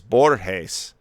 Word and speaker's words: Borges: would you say this because it's borjes in spanish a soft g that sounds more like an h borjess borgesian i guess